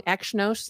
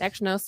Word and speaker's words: Exynos: Meanwhile, DealSite poured some water on the previous report, saying that the Exynos, I always say it wrong. Exynos, not Exynos, like I was Sean Connery. Exynos.